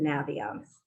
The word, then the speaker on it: Naviance: And by the way, the company pronounces it Naviance. They thought that was obvious when they made the name because they say you use it to navigate.